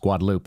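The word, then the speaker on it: Guadalupe: And this is actually what they're talking about in the Guadaloop River, which is pronounced Guadaloop out in Comfort, Texas, which is where our family members live.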